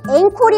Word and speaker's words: encore: 자, 발음은 encore이 아니라 encore. 자, 다음 문제는 down 3번 E.